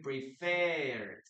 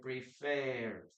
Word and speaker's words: preferred: We don't pronounce the letter E there.